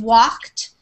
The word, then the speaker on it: walked: the end finished and walked it's almost like it sounds like walked like that with a T at the end that's how we pronounce